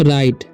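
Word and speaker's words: right: इन हिज राइट, इसे पढ़ते हैं हम राइट, ठीक है। GH साइलेंट है, ठीक है।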